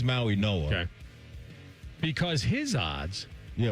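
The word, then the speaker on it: Mauigoa: Is the G pronounced as an N? I believe so. Okay. It's a tricky one. It is. I think it is Maui Noah.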